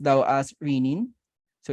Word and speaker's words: renin: the renin in kidneys actually sometimes it's correctly pronounced though as rinin so it's rinin because renin re n n